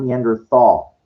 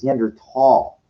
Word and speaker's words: Neanderthal: something like that and that's how it's pronounced by the way it's not neanderthal you know it's written that way it's gender tall that's the proper uh the proper way of staying it because people ate like